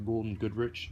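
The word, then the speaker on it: Gould & Goodrich: Next is a Golden Goodrich, and that's how you say it, swivel radio holster.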